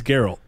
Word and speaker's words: Geralt: It's Geralt.